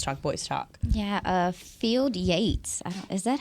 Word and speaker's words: Field Yates: here on Girls Talk boys talk yeah uh field Yates is that how you say it yes he